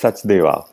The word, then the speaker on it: Sachdeva: Is it Sachdeva or Sachdeva? You know my impossible to pronounce names correctly. No, it's Sachdeva.